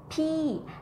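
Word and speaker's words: พี่: Actually, this word, ผีYou might confuse with similar to pronounce with the word P that means someone older than you, okay? This one falling tone is P and the ghost is rising tone P.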